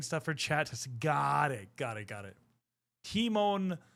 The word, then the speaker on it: Timon: Timon, pronounced like Lion King Meerkat, same name.